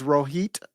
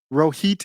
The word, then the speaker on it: Rohit: Early in politics, Ro Khanna, his real name is Rohit, or Rohit. Rohit is how I think you would pronounce it.